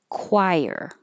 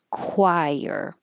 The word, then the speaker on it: choir: Choir. This is another word that looks different than it sounds. Choir.